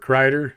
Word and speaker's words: Kryder: So, my name is Robert Krider. It's spelled K R Y D E R.